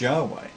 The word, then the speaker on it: Yahweh: The church testified the name was pronounced Yahweh.